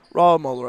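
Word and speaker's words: Rahmoeller: Rahmuller, I believe is how you pronounce that.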